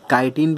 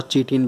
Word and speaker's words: chitin: तो याद रखो इसे काइटिन भी बोलते हैं, बोलने पर डिपेंड करता है, और चीटिन भी बोलते हैं, ठीक है ना।